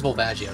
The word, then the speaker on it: Volvagia: It is Volvagia, right? Like, that's how you pronounce it.